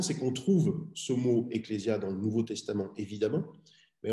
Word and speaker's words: ecclesia: s'est passé par latin on prononce exactement de la même manière ecclesia en latin et djediat en grèce